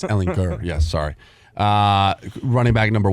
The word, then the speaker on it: Ehlinger: Hard G, over fellas. Ehlinger. Yeah, Hard G. Ehlinger. Hard G. Yeah, he did that, and I just it's Ehlinger.